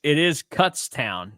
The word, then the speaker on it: Kutztown: No, it is Kutztown. It says that it's the first syllable rhymes with putz.